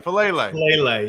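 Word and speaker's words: Faalele: to say his last name i don't jeff fellaily fellaini yes then jalen armour davis the cornerback from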